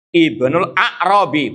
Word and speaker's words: Ibnul A'rabi: Bedakan Ibnul A'rabi, bukan Ibnu Arabi.